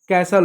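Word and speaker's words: castle: कुछ शब्दों में जब एस टी एल एफ टी एन या पी ए एस टी एन जैसे पैटर्न आए तो क्या होता है? टी साइलेंट होता है।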